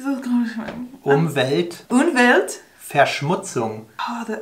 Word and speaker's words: Umweltverschmutzung: Five syllables. Umweltverschmutzen. Almost. Umweltverschmutzen. This is going to be... Umwelt. Umwelt. Verschmutzung.